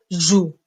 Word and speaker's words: joue: e je joue e mais attention on écrit e sans la prononcer on dit que c'est une lettre muette E est une lettre muette c'est-à-dire on la voit mais on ne la prononce pas je joue je